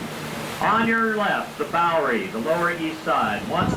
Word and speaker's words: Bowery: The Dutch word for farm, boerderij, we mispronounce the Bowery. On your left, the Bowery, the Lower East Side, once the most densely populated place on the planet.